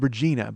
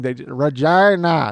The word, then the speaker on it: Regina: Yeah, well, it's spelled Regina, but they call it Regina up there.